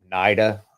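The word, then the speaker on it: NIDA: Institute on drug abuse it's naida I think is how they pronounce it the website is uh drug abuse.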